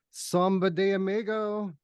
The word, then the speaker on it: Samba de Amigo: and Samba de Amigo.